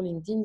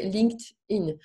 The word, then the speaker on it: LinkedIn: linkedin c'était en fait une fois qu'on réalise vraiment que c'est linked donc lié lier les gens à l'intérieur c'est linked in donc c'est de çà vient de l'anglais donc si vous voulez le prononcer correctement ses linkedin en principe ça on